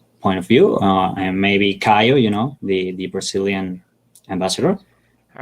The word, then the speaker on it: Caio: Oh yeah, how do you say ciao? That's how you say it. It's Caio. Kayo.